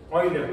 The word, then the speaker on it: Euler: Euler, porque el diptongo EU en alemán se pronuncia OI.